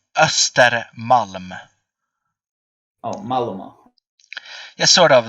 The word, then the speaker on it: Östermalm: Though it is like you see the O to the left that has 2 points on it. That's pronounced as Oh, Ostermalm. Yeah, sort of. It's like Östermalm.